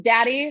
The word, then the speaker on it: Dea: well first and foremost my last name is daddy so if you want to know how that is said that's how it's said so call me daddy